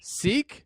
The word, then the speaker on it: Sikh: Like a- He's Sikh. Zeke? oh, Sikh. Seek? Yeah. Like the board brand.